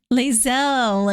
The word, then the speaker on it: Lae'zel: Lae'zel is the pronunciation.